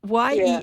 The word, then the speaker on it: Jennifer: It's Yennyfair. I kept saying that because, of course, she was, you know, Spanish, and that's how she pronounced Jennifer.